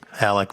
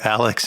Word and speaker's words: Alec: and i that uh every first time alec met someone they would call you alex and we'd always go alec with a c and then brevin it